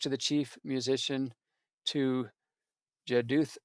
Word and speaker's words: Jeduthun: It's addressed to the chief musician to Jeduthun. That's just the Hebrew pronunciation, Yude Uthun.